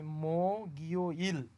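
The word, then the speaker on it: 목요일: গিয়কটা Ewing এর স্থানে গেলে এটার উচ্চারণ হবে মো গিও ইল, মো গিও ইল, বৃহস্পতিবার।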